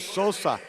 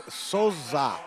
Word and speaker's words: Sosa: ways I've heard Susa I've heard Sosa what is it and he goes it's soza and I said like a z he said yeah so there it is